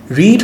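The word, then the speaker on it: read: রানের past tense RAM রিড হচ্ছে পড়া এবং রিডের পাস্ট টেন্স রেড কিন্তু ওইটার স্পেলিং একই এজন্য মানুষ কনফিউজড হয়ে যায় সো রিডের পাস্ট টেন্স উচ্চারণ রেড কিন্তু বানানা বা রিডি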